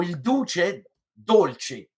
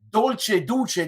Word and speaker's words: Il Duce Dolce: in Italian it's the Duke who's sweet. So Il Duce Dolce. So because if you say Dolce Duce, that means like you're actually eating the Duke, and it's sweet.